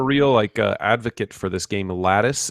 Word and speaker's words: Latice: Yeah, I've become a real advocate for this game, Lattice. It's spelled Latice.